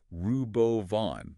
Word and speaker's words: Robovan: it we do yeah apparently it's rubo Von like Suburban but way cooler it does have a